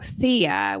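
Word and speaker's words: Theia: Thea which is spelled t h e i a.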